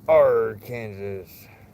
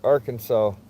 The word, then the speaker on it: Arkansas: R Kansas. Except it's not pronounced Kansas. It's Arkansas.